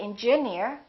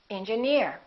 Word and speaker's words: engineer: example pioneer volunteer engineer we don't say engineer we say engineer another rule if the